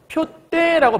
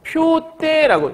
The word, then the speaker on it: 푯대: 요렇게 발음을 해야 돼 얘는 푯대라고 발음을 해야 돼 그러면 지금 위의 경우에는 얘만 바뀌었지만 여기는 디귿이 따로 들어와 있잖아 이럴 경우는 우리가 교체 그 기그시 쌍디귿 됐으니까 교체라고 하는 거지만 없던 소리가 지금 들어와 있잖아 그래서 우리가 뭐라고 할 수 있냐면 첨가가 들어가 있다 첨가가 들어가 있다 그러니까 푯대의 특징이 뭐냐면 원래부터 표가 대결합이 아니고요 표와 대결합인 거야 근데 얘가 만약에 표 때라고 발음은 둘 다 맞는 거예요 근데 표 때라고 발음을